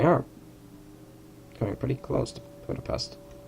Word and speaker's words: Budapest: Of course, we are coming pretty close to Budapest. I'm pronouncing it the English way, the Hungarian way, so then the local way of saying it is Budapest.